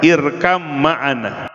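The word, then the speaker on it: ارْكَب مَعَنا: masuk ke dalam bahteranya irkam mana asalnya irkab maana dibacanya irkam Ma anak naik perahu beserta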